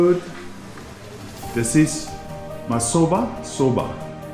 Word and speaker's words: Masoba: This is Masoba. Soba. Is it pronounced right?